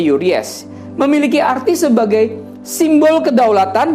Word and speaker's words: Uraeus: Mahkota Firaun ini namanya Uries. Tulisannya Uraeus, ya. Tapi kita bacanya Uries.